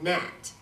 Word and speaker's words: gnat: And I blamed her for the things I broke, and I thought of her as a gnat, spelled with a G.